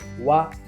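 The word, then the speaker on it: は: यो भनेको लेख्दाखेरि चाहिँ हिरागानाको हा भन्ने अक्षर लेखिन्छ तर उच्चारण गर्दाखेरि चाहिँ वा भनेर उच्चारण गरिन्छ। यो कस्तो अवस्थामा हुन्छ भन्दाखेरि जबकि यो हा भन्ने चाहिँ एउटा पार्टिकलको रूपमा आउँदाखेरि चाहिँ हामीले त्यसलाई वा भनेर उच्चारण गर्न जरुरी छ।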